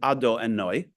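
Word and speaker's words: Adonai: So God's name is, we pronounce it Ado and Noi, but it's actually spelled Yud and Hey and Vav and Hey.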